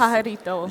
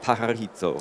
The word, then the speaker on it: Pajarito: I've been talking to Alia Lubers, who's Catalyst Manufacturing Manager at, and it's pronounced with... Pajarito. Yeah, Pajarito.